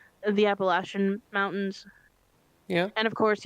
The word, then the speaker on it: Appalachian: The Appalachian Mountains.